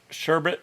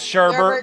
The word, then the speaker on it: sherbet: that all bottled up sherbet say it right yeah i you know everybody says sherbert because you know why your brain is programmed because you've heard it said that way so many times sure but what the